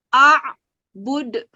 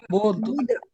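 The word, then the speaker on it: أعبد: Ya, bacanya cara memantul dengan keras. Coba, iya. Jadi bacaannya begini ya. A'bud. Coba anak-anak. Sama-sama. Bud.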